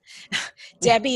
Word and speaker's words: Debbi: and last well different debbie is de bebé i there's no e it's debye de bebé